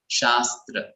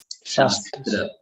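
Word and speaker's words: शास्त्र: So this is the sir that comes in Shastra. Shastra. And this sha is the sha which comes in Shatkona. Shatkona.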